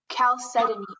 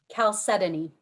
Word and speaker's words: chalcedony: a part of speech it's a common noun chalcedony am i pronouncing it correctly yes okay can you please pronounce it one more time chalcedony c h a l c e d o